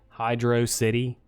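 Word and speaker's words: Hydrocity: sonic 3 said that it's pronounced hydro city just like the uh peanut butter you're about to insist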